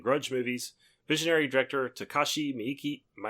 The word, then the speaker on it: Miike: Visionary director Takashi Miike, how do you pronounce his name? It's Miike, I think. Miike. I can't remember. Miike. Something. I would have said Mike. No, but, Mike.